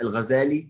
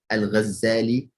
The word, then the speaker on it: Al-Ghazali: So he's known as Al-Ghazali. It's also known that you can pronounce it Al-Ghazali, where the shidda is on the Z, right?